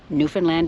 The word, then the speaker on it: Newfoundland: was raised thinking it was how it was pronounced. Anyway, Newfoundland is the correct pronunciation.